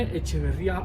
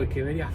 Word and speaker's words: Echeveria: Este, lo habré pronunciado bien. Es una echeverría o hecheveria fresa.